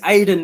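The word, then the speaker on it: Aden: it what is your name my name is aiden mate my name's aiden and it's not the way you think it's spelled it's not a i d e n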